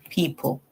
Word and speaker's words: people: So we say P, E, the O is silent, and P, O, people.